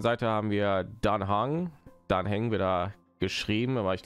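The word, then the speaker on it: Dan Heng: Dan Hang wird da geschrieben, aber ich glaube, Dan Hang wird da ausgesprochen.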